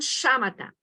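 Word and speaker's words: śamatha: Na tradição budista, essa disciplina é conhecida como shamatha, pronunciado, né? Shamatha.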